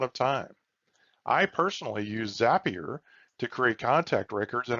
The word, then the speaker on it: Zapier: microsoft power automate and zapier which rhymes with happier both of these integration